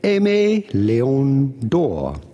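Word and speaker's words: Aimé Leon Dore: Aimé is a relatively common name from French, which means loved. Then obviously Léon, and then door. Because there is no accent on the E of door, you have to assume it is said door and not doré.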